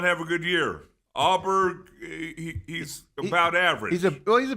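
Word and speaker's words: Åberg: The best golfer in the world, Scotty Scheffler with Russell Henley, with Auberg and Fitzpatrick, Matt Fitzpatrick against them.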